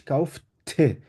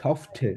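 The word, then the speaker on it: kaufte: কিভাবে এটা বলতে পারি যেমন ইস কাউফ ঠে এটা মানে অনেকটা ঠ থেকে শুরু করে ঠে ইশ কাউফ ঠে একদম মানে প্রেস করে বলে দিবেন অলওয়েজ কাউফ ঠে তাহলে ক্লিয়ার থাকবে একটা জিনিস আরেকটা হচ্ছে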